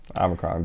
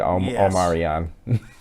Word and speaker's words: omicron: words of the year yeah omicron they're calling it omarion and that and that